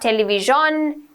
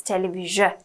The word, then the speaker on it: television: It's not television, it's not television, it's television, television, okay? So it's not sh ekak nae, okay? Like chef, no, television, okay?